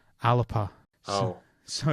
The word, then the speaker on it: Alba: because the word Alba is also that spelling is a Gaelic word to refer to Scotland, but it's not pronounced Alba. It's pronounced Alapa.